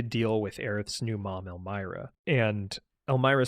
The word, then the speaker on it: Elmyra: ran into Elmyra I believe her name is pronounced Elmyra Gainesboro who went on to adopt aith and